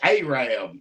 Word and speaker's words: Arab: Lori is going to try to correct me on this, and she's going to say it wrong. Lori and Cassie both, I bet you would tell me that I'm supposed to say Arab, Alabama. That is Arab, Alabama.